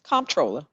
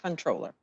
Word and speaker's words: Comptroller: No, it's Comptroller. C-O-M-P-T, not Controller.